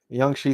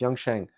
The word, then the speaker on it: Yang Sheng: Yang Shi says, I think Yang Sheng, I keep mispronouncing that. It's Yang Sheng.